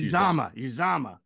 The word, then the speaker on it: Uzomah: get the name right CJ uzoma is that right uzama no it's uzama Zama he's corrected people like